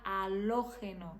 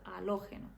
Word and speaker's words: halógeno: pronunciar aberto por exemplo a palavra que em português a gente falaria halógeno em espanhol seria alogeno como se fosse uma um circunflexo ali né É sempre fechado alógeno e uma super palavra